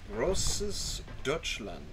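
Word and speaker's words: Großdeutschland: get rid of anything roses deutschland i think is how it's pronounced at least that's what google translate says let's say grover dutchland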